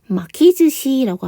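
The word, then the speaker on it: 巻き寿司: 이게 발음이 이제, 조금 즈시, 탁점이 좀 붙은 거, 요거 조금만 유의해 주세요.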